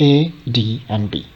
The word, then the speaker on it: ADB: But in ADB, like acronyms, you have the initial letters, but it is not pronounced as a word itself, but it is pronounced as a sequence of individual letters like A, D, and B, or L, C, D.